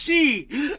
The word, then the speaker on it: Xi: Chinese president's name is she x i it's pronounced she oh I'm so funny